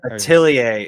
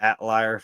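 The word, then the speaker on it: Atelier: Atilier is correct. My southern self has called it Atlar for so long, but it is Ailier.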